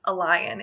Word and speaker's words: Elian: Jehovah is God now Elyon is the typical pronunciation for this name but I do not think it'd be a strict at all to pronounce this a lion as well which book of